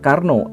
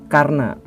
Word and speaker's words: Karna: Dan bukan Karno, tetapi Karna.